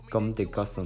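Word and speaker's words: Comme des Garçons: 的法文发音应该是 Gomme de Gossam。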